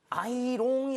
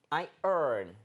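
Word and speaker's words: iron: 하는 거 찾아 어 근데 발음을 조심해야 돼요 여러분 아이롱이 아니에요 아이롱이 아니에요 아이롱 팜 아니고 아닙니다 아 I earn 아 이렇게 생 생각하시면 돼요 I rone이라고 하게 되는 거는 이걸 그대로 읽은 건데 희한하게도 굉장히 희한하게도 얘 발음은 or이 뒤집혔다고 보시면 됩니다 그래서 마치 i o r n인 것처럼 발음을 하는 거예요 한번 해 볼게요 IR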